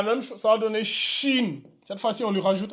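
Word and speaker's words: شين: H comme ça là à la prononciation ça donne Chine Chine donc ça c'est sine et ça c'est Chine voyez-vous les trois points en haut vientent rajouter le H ça donne maintenant Chine alors que ici ça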